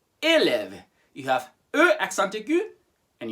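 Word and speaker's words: élève: to five go for it this one is pronounced elev elev you have uh accented and you have uh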